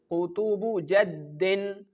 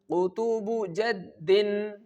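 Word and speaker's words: قطب جد: With the help of this phrase, which is Qutubu Jaddin. Qutubu Jaddin.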